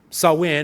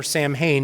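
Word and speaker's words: Samhain: Roman Catholic equivalent that replaced sawin or Sam Hayne depending on your pronunciation and your spelling and what ultimately happened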